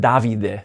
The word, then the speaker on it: Davide: Actually, it's pronounced Davidid.